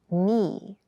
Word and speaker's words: knee: Keep in mind, yes, this word begins with a K in spelling, but the pronunciation is knee.